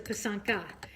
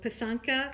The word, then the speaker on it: pysanka: on piece on ki and one is a pisanka so pisanka is singular poisson key is plural okay so